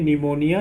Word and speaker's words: pneumonia: PN में P silent रहता है। यहाँ पे देखिए PN आया है वर्ड में, है ना, तो P साइलेंट रहेगा। PNEUMONIA निमोनिया, निमोनिया।